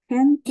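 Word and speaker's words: gente: В інших випадках читається як твердий і дзвінкий г. Як твердий і дзвінкий г. Будь ласка, прочитай ці слова. Горила, люди. Горила, хенте, і люди. Хенте. Абсолютно правильно.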